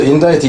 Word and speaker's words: indict: 그리고 여기서는 C자는 발음이 나질 않습니다. 그래서 인다이트 이놈도 역시 발음은 결국 똑같아져요.